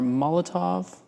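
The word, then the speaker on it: Molotow: These are molotov spelled like m o l o t o w.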